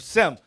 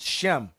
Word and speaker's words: Sem: The word sem in Greek, the letter S in Greek is pronounced with a sh sound, as in shut the door.